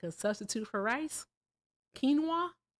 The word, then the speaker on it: quinoa: Quinoa. You used to say kinoa. I didn't even say that Like what did I used to say? I It's quinoa. I say ka.